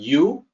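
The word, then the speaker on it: 有: misleading it looks like you but what's written as you is actually yo in mandarin and then the character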